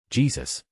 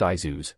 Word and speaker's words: Jesus: Jesus. It's pronounced Izuz, and, I don't know you.